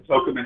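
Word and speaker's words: Tocumen: I was going to tell you about my trip yesterday, but we had to catch our flight from Tokumen Airport. It's not Tokumen, it's Tokumen.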